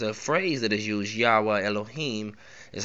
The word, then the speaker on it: Yahweh Elohim: Now there's a phrase that is used, Yahweh Elohim is how it, or Yahweh Elohim is how it's said.